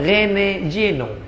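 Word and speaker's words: René Guénon: masuk Islam namanya siapa tulisannya r e n e g u e n o n Rene juenon cara membacanya Rene Jeno tapi setelah dia masuk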